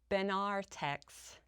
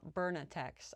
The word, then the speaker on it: Benartex: And also for someone who helped me pronounce Benartex, not Bernatex.